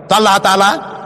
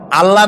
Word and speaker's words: আল্লাহ: বিশ্বাস আল্লাহর নাম আল্লাহ বলেন তো আল্লাহ নয় কিন্তু আল্লাহ হচ্ছে অশুদ্ধ শুদ্ধ হচ্ছে আল্লাহ বলার সময় মুখটা গোল হয়ে যাবে বলেনতো সবাই উচ্চারণ করেন